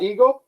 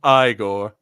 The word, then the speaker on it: Igor: hey there is that eigor yes indeed no it's pronounced igore oh igore right they told me it was eigor well they were wrong then weren't they I love